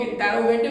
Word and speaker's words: interrogative: Structure which is interrogative, जिसको कुछ लोग इंटेरोगेटिव भी कहते हैं, कुछ लोग इंट्रोगेटिव भी कहते हैं। Both the pronunciations are same, both the pronunciations are correct, दोनों ही प्रोनाउंसिएशंस करेक्ट होती है। मैंने पहले भी बताया था, इंट्रोगेटिव कहते हैं, कुछ लोग इंटेरोगेटिव कहते हैं।